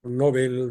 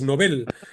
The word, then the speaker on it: Nobel: creo que el nombre el modo correcto de pronunciar el premio es Nobel eh No tendemos a llamarle Nobel a alguien que debuta que es novato que tiene poca experiencia mientras que al premio le reservamos la pronunciación como Nobel creo que es